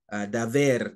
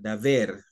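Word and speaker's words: דבר: The word communing here is the word daver, daver. Yes, he pronounces it B like a V, just like in Spanish.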